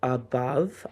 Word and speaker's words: above: Now above has that schwah at the beginning. Uh and then o consonant e. Remember we learned o consonant e can sometimes spell the uh sound.